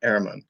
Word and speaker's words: Ehrmann: It's Ehrmann. Well, in the States Ehrmann. we say Ehrmann, but the German pronunciation is Ehrmann.